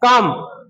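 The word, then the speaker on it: calm: ये क्लाइन नहीं है। काम इसमें एल साइलेंट जाता है। आगे हम एल का जब पढ़ेंगे तो पता लग जाएगा एल साइलेंट कब रहता है। ये क्या है? काम। काम मतलब का की ध्वनि लंबी आएगी।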